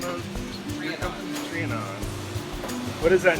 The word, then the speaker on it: Trianon: So how do you pronounce the name of your company? Trianon.